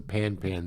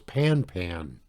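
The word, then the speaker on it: pan-pan: the group of words pan pan each word of the group pronounced as the French word Panet and sent before the call I think if you're saying pan ban that's good enough all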